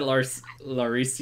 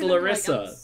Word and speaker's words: Larissa: You said Laricia? Oh god, I say it wrong every time, and now I've like remembered it incorrectly, and people are like, "Who are you talking about?" It's just Larissa.